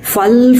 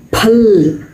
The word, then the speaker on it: फूल: நம்ம வழக்கமாக சொல்கிற ஃபல் ஃபூல் எல்லாம் தப்பு. பல் பூல் அதுதான் கரெக்டு. ரொம்ப நல்லா படித்தவங்களை கவனிச்சிங்கன்னா ஹிந்தியில் உள்ளவங்களே நல்லா படித்தவங்க கரெக்டாக சொல்லுவாங்க. பல்லாவோ பூல்லாவோ தான் சொல்லுவாங்க.